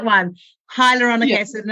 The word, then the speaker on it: hyaluronic: to say it wrong hydrochloric acid hyaluronic Hydrochloric is not good right I yeah hyaluronic hydrochloroplastic would burn my face off hyaluronic hyaluronic yeah hyaluronic acid I think would like